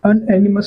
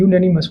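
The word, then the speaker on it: unanimous: एक मत हैस ठीक इसको उच्चारण करके देखो तो हम क्या बोलते हैं अनएनिमस पढ़ते हैं कि यूननिमस पढ़ते हैं तो इसका जो एक्चुअली में हम उच्चारण करते हैं करते हैं यू यूनिमस तो यहां लिखा हो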